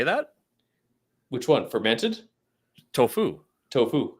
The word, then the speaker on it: tofu: Oh, emphasis- your enunciation is you put the accent on the other. I put the wrong emphasis on the wrong Yeah.